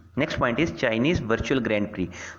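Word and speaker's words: Grand Prix: इसको बहुत सी जगह मैंने सुना है कि को बहुत से स्टूडेंट्स और बहुत से टीचर्स इसको ग्रैंड प्रिक्स बोलते हैं। इट इज एक्स is silent here, it is only ग्रैंड प्री।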